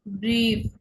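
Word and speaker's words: Brief: আই থাকলে কি হবে? দীর্ঘ ই। যেমন এক্সাম্পল হচ্ছে ব্রিফ, ব্রিফ, আই, ই, ব্রিফ।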